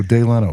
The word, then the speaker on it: Delano: L, but My pronunciation is usually all right, but I'm like, Delano, what are we doing? No, Day Leno, like Jay Leno.